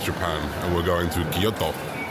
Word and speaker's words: Kyoto: And we're going to Guyoto. GTO is how they say it, by the way, cuz I'm half Japanese since I've been here.